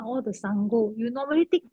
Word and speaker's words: Saṅgho: with the Pali phonetics, the N with the dot on top is already Saṅ. So S-A-N-G is Saṅ. Then G-H-O is another syllable. So it's Saṅgho.